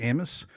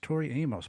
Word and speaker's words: Amos: Tori Amos you know your last name is four letters but people always mispronounce it don't they Amos Tori Amos but it's Tori Amos it's Tori Amos yeah it's not a mosquito bit me so when you think